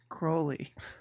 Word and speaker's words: Crowley: It's pronounced Crowley.